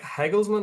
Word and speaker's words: Hegelmann: Pat playing playing host to Heglesman is how you say it, Ross from the first leg out there, I think.